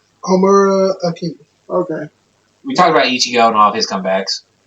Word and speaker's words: Homura Akemi: Homura Akemi.